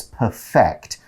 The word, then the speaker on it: perfect: as a verb there when you use it as a verb it's perfect you put the stress on the second syllable I want to perfect